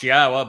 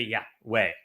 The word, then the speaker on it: Yahweh: And they changed Yahweh's name, which is clearly pronounced Yahwa based upon Torah, based upon Haya, to Yahweh.